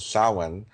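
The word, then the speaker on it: Samhain: idea of Halloween which is uh known as sin. Um people spell it s a m h a i n but it's pronounced sin.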